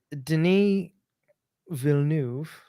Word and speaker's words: Denis Villeneuve: Denis Villeneuve, as I've been told, that's how you pronounce it.